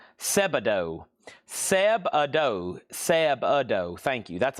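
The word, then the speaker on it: Sebadoh: then that is a $10 start, and that's pronounced Seb-Ado. Seb-Ado.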